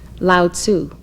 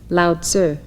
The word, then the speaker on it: Lao Tzu: are studying his writings many of you have commonly heard his name pronounced lao tzu but it is correctly said lao sir and it is spelled